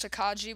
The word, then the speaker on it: Tokage: do have a typhoon tokage I know it's pronounced takaji but I'll pronounce it how I want to okay um uh so Yep this is typhoon takage takaji uh but while we're here I'm gonna